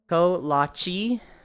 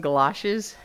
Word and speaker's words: kolache: Kolache? Yeah, kolache. That's what I said. Kolaches. Stop calling them galoshes. I did not pronounce a G. I said kolaches.